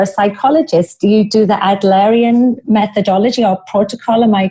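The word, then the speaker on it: Adlerian: you said you're a psychologist you do the adarian methodology or protocol am I correct in my pronunciation yes well done yes after named after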